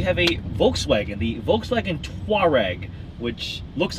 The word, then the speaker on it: Touareg: Touareg. Two distinct syllables.